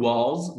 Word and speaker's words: was: little بقولها little كده، شورت اي والتي بنطقها فلاب تي، little mouse الاو بنطقها او، was لما الاي تيجي ورا الدبليو بنطقها او، was مفتوحه كده في الامريكان اكسنت، لكن لو ابريتش بقول was امريكان، was بريتش.